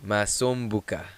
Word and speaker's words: Masombuka: you don't get to tell me how to pronounce it right just just call me it's fine is the surname Masson Buca you know yes like that it is something